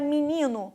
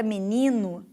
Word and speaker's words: menino: Você pronuncia muito provavelmente a palavra menino com o e aberto. Menino. Menino. Enquanto que eu pronuncio de uma maneira diferente. Eu pronuncio o é fechado. Menino e não m me.